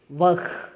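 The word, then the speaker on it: वह: உச்சரிப்பை கற்றுக்கொள்ளுங்கள்ன்னு சொல்லி இருக்காங்க வஹ் வஹான் யஹ் யஹான் இந்த வஹ் யஹ் வந்து சில பேருக்கு சரியா சொல்ல வராது யக்கு வக்கு அப்படின்னு சொல்லுவாங்க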